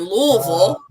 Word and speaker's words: Louisville: because so I'm from Alexi in Kentucky and Louisville which is the the correct pronunciation L I've always heard um oh we